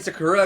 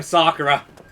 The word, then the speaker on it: Sakura: I always hate saying Sakura because my brain is like, it's Sakura, it's the tree me. Pronounce it damn Sakura. But I've been told recently, I don't know if it's true or not, but in Japanese phonetics, it's more Sakura than it is Sakura, because Sakura is just